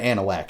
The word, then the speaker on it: Anahuac: live in called Anahuac, which, by the way, if I showed it to you, you wouldn't pronounce it Anahuac. It probably has somewhere around 48 letters in it.